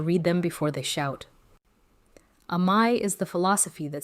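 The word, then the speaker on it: 甘え: The first word is Amae, pronounced Amae.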